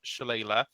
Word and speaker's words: Shillelagh: So Leiron, bonus action, Shillelagh, and I am pronouncing that right, you fuckheads.